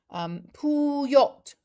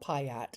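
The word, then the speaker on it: puyat: Puyot, pronounced the same with the stress on the second syllable. Tita, you too are loved by Filipinos. Oh, Bobby, you are so sweet. Right, so I've got it that it's poo, not payat. It's not payat, it's puyot.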